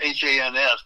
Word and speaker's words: Hans: It's H-A-N-S, but it rhymes with chance. Hans.